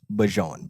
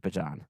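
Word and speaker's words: Bijan: It does not rhyme with a type of mustard. Real ones. No. Um, I've been trying to do this on game debut over the last few years with Bajan.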